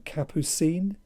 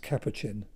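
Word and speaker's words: Capuchin: somebody makes where they refer to a priest as being Capucine when it would have be pronounced capacin.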